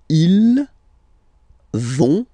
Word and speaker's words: vont: So ils vont, final T not pronounced.